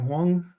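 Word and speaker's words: Huang: your man um the Jensen How do you pronounce his name? Hang. Is it Wong?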